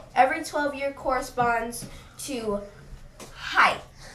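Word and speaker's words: hai: every 12 year corresponds to height. Hi, is that how you say it?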